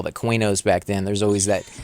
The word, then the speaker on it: Qeynos: on your own and I've never heard the the Q pronounced with a que released of it if I do you don't hear it that often so I always just thought it was Quay nose and not quino's but what tomato tomahto